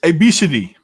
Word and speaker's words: Abcde: which is ABCDE but it's not pronounced ABCD in no it's obesity yeah that's the one